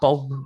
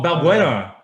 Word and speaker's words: Balbuena: Aina Bulb. I don't know how to say his name. Fabian Who? Bulb. Oh, Balbuena. Balbuena. That's his name.